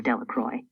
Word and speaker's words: Delacroix: Jones and Dicky Delacroix the villagers pronounce this name Delacroix eventually made a great